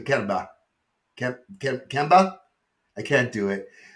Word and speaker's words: Canberra: What I got to do, they don't pronounce R's. So he doesn't live in Canberra. He lives in Canberra.